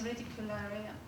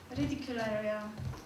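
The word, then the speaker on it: Reticulárea: the environment of giggles ridicularium i always pronounce it in a flemish way sorry ridicularia the experience is one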